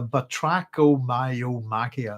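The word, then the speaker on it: Batrachomyomachia: So one more time for anybody, if you go with it phonetically, it's the Batrachiomyomachia. It's all one word.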